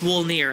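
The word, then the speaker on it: Wolnir: we're going back there is it Walmart or volnar it's wool there it's wool near actually I didn't know if because like how how German Germans pronounce W's V's it looked it looked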